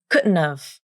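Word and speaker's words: couldn't've: You drop the H and reduce the vowel in have, just like you did before. Then something strange happens. The D consonant turns into a glottal stop, and you omit the T consonant, which means you use a nasal flap.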